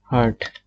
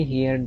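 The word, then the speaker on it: heard: তো অ্যান্সার কি দেব, হার্ট, SE, অনেকে হিয়ার্ড বলে, আসলে হিয়ার্ড না, এটা হার্ট হবে উচ্চারণ, SEARD, হার্ট।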